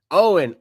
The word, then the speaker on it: Owen: How do you say his last name? Is it Oman? Omen? What do you say? Went out and scored 108. Mitchell Owen. Owen, that's what it is.